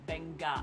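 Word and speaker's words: Beqa: mess up is uh the letter Q is actually pronounced like G So like um you might see the spelling for instance for Bena Island which is actually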